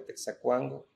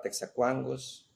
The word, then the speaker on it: Texacuango: soy originario de Santiago, Texacuango. Antes se pronunciaba Texacuangos porque éramos tres pueblos, pero ahora solo hemos quedado uno.